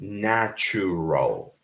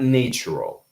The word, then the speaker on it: natural: And then the second word is pronounced with a flat A. Okay. So first it's nature, and the second one is natural, not natural.